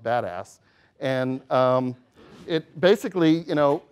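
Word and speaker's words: BDAS: abbreviated be das and for those in the know it's pronounced badass and it basically you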